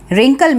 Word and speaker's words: wrinkle: Wrinkle में भी W जो है वो silent है and what we pronounce it? Wrinkle.